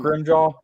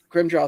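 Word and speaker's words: Grimmjow: wall i can't ever say his name um broom jaw grim jaw thank you grandchild and they're ready and renji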